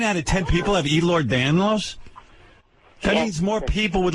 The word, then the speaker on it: Ehlers-Danlos: It would be nice if you would pronounce it correctly. Charlie Daniels. How do you got Charlie Daniels disease? Here's Charlie Daniels disease. What is the disease? Ehlers-Danlos. Ehlers-Danlos? Igor Danlos. Igor. No. Ehlers-Danlos.